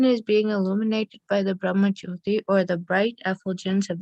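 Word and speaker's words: Brahmajyoti: the spiritual sky, the Brahma, how do you pronounce it? Brahma Jyoti.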